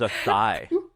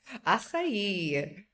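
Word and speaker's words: açaí: I thought it was a thigh. Yeah. Yeah. Acai.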